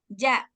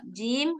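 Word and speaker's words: جيم: Maka bacanya jangan ba, ja. Nah, jangan gitu. Ba, Ba. jim.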